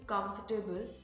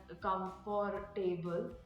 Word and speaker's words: comfortable: and Clarity of speech for example mispronouncing comfortable as comforable or speaking in a